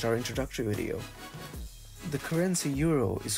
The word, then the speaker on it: Euro: EU together will always be pronounced as OI.